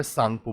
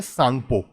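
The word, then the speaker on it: Tsangpo: ये रही ब्रह्मपुत्र रिवर इसको यहां पर सांगपो बुलाते हैं क्या बुलाते हैं सांगपो इसमें टी साइलेंट होता है यहां से निकला यह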